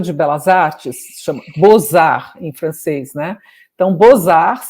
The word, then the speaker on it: Beaux-Arts: Belas Artes, se chama Beaux-Arts em francês, né? Então, Beaux-Arts se escreve B-E-A-U-X, Art, A-R-T-S. Aí eles mudaram o nome do museu para Beaux-Arts, assim, B-O-Z-A-R, que é como se pronuncia.